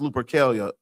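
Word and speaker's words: Lupercalia: Look up Lupercelia's pronounced Lupercelia. L U P E R C A L I A.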